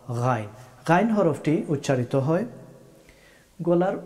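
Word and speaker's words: غين: অনেকেই গা গি গু বলে থাকেন, এটা শুদ্ধ হবে না। গা রি গু, গা রি গু, এইভাবে বলতে হবে।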